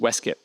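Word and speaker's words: waistcoat: for waste coat and he wrote that same point about uh the pronunciation of Weskit that is actually Tolken.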